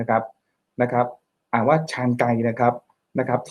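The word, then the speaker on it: Chancay: ใน เปรู นะ ครับ นะ ครับ อ่าน ว่า ชานไก นะ ครับ นะ ครับ ที่ เอ่อ ตัว ท่า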